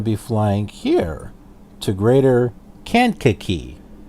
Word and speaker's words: Kankakee: flying here to greater can't kicky that's how it's pronounced Kankakee I for the longest time pronounced it can khaki it can't kicky I looked up videos